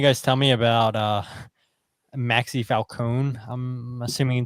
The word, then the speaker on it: Falcone: So what can you guys tell me about Maxi Falcone? I'm assuming it's pronounced. I mean, it looks like it's Falcon, but yeah, Falcone, I believe.